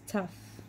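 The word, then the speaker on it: תו: least is the last letter is tough like a tough cookie tough that makes teeth also the letter t'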